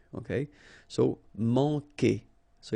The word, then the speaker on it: manquer: Manquer. Okay, remember when we get this Q, after that automatically we get this U, but then we don't pronounce the U, okay? So manquer.